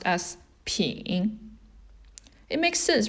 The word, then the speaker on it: 品: bottle right it means to taste and it's pronounced as ping it makes sense right you've got three mouths